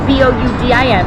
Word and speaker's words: boudin: It's spelled B-O-U-D-I-N, but we're having boudin today.